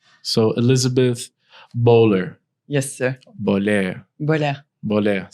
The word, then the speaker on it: Bohler: Bohler. Bohler. Bohler. See, I had to Yeah, say it right. The French pronunciation is unique.